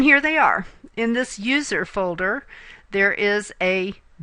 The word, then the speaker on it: usr: one that we pronounce user there's no e it's just USR but we still say user the U folder or